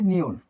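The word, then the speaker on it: 니은: এই যে এল এর মতো যেটা, এটা হচ্ছে নিয়ন, এটির নাম নিয়ন, নিয়ন, নিয়ন। নিয়নের উচ্চারণ ন, দন্ত ন, প্রথমেও দন্ত ন, মাঝেও দন্ত ন, নিচেও দন্ত ন উচ্চারিত হয়।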